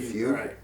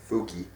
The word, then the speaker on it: fugue: human Forest create a Fugue of imaginary rain is it fug that is a fug is it Chocolate Rain or that fug yeah it's not fugy I don't like this